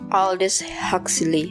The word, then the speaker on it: Aldous Huxley: Apa bacanya gimana? Aldous Huxley.